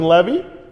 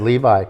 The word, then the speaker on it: Levy: husband on that other show that if you mispronounce we're going to get blocked um uh come on uh Levy Eugene Levy well if we said Levi no no no the title of the show